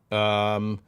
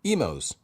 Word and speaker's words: Emo's: Emo's Pizza is pronounced like Nemo's without an E. Yes, awesome. Emo's Pizza. So I pronounced it correctly. Emo's, like Nemo's, yes.